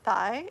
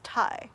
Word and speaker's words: Thai: It's not thigh, it's Thai.